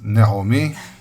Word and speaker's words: Naomi: Not Naomi, not Naomi, it's Naomi. That's how it's properly pronounced.